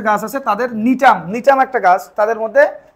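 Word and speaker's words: Gnetum: নিটাম, একটা উদ্ভিদ, এর নাম কি? জিনিটাম না, কিন্তু এর নাম হবে কি? নিটাম। জিটা এখানে উজ্জ্ব থাকবে, মানে উচ্চারণ করা যাবে না।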